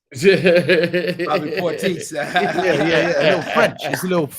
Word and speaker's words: Bobby Portis: Bobby Portis. Bobby Portis. Yeah. A little French. It's a little French on it.